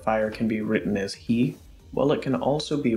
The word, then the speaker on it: 火: Some fire type moves do use hi, but they use a different reading so it sounds like ka instead of hi.